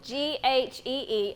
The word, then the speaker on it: ghee: G-H-E-E, and it's Yeah, G. pronounced ghee.